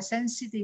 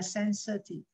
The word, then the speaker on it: sensitive: Mean, mean, wretch, wretch, refrain, refrain, sensitive, sensitive. Y đọc ơ này ha, không phải y đọc là sensitive mà là sensitive.